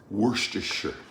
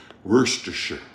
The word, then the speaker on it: Worcestershire: Worcestershire. Worcestershire. Sure, like New Hampshire, not Shire, as in rhymes with tire. Worcestershire.